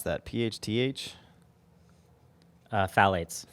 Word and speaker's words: phthalates: pronounce that phth uh phthalates phthalates yeah oh so the second th is just meaningless phthalates are a large